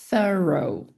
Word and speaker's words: thorough: Ou isso aqui é ou então thorrow.